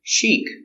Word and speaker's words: chic: sales brochure very good chic it's an adjective fashionable or stylish pronunciation Chic use the soft sound this is the long e sound they're going to a